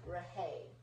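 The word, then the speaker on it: Rhaye: Not like rain of sunshine. Yes. It's like Rahay.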